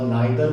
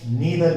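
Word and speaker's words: neither: हम आइदर को ईदर भी प्रोनाउंस कर सकते हैं और नाइदर को नीदर भी कर सकते हैं।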